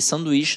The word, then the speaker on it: sanduíche: Esse, gente, tem um H ali, hein? Mas olha só, não é o NH. O bizu é o NH, que deixa nasalizado. E sanduíche não fica nasalizado, eu digo sanduíche.